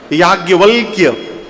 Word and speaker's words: याज्ञवल्क्य: व आधा ल आधा क और य शुद्ध उच्चारण करिए तो जिभ टेढ़ हो जाएगी। याज्ञवल्क्य गोस्वामी जी बोले इतना टेढ़ नाम है इनका